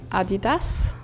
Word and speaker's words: Adidas: So this brand we pronounce in German Adidas.